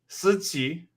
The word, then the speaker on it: Siqi: Siqi. Siqi. It's your turn, Trevor. Siqi. All right. So you're all right. So you take the S sound, and you have to somehow turn the S into a Z.